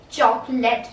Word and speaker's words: chocolate: हाँ, लिखा लास्ट में late जरूर है, but you will not pronounce this as late, you will pronounce this as let, okay, chocolate, not chocolate, chocolate, okay.